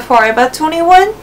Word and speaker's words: Forever 21: Forever 21 is forever we pronounce v more like B in Japanese and so that's why